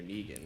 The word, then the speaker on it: Negan: it be Negan or Negan it's Negan okay it's my joke as I go uh it's pronounced like Megan like I'm saying Megan wrong so like when someone